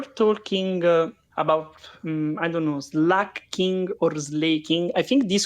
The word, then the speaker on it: Slaking: you're talking about pronunciation I go is slacking because of slack you know I think